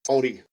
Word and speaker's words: Māori: I went to school with a lot of Maori guys, and it's pronounced Māori.